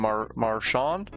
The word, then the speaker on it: Marchand: brad marchand on boston we used to call him marshawn more french way to say it and a few years